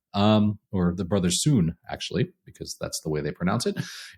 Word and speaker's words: The Brothers Sun: a new show with my wife on Netflix the brother's son um or the brother soon actually because that's the way they pronounce it it is fantastic man this is